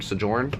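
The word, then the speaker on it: Sojourn: to read Exile and sjorn sjorn is how you say that but this is the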